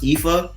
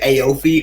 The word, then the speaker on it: Ifa: It's funny because the album's pronounced Ifa, but everybody pronounces it Aofe, which is the funniest thing ever.